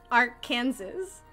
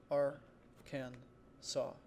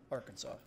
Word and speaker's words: Arkansas: mean i was so confident that it said our kansas and then you guys were telling me that it's not we're gonna have a pronunciation stream how do you pronounce our kansas